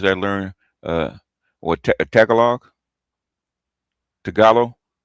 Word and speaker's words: Tagalog: Even the Philippines, I learn uh what Tagalog Tagalo. What you call Tagalog? It's pronounced Tagalo.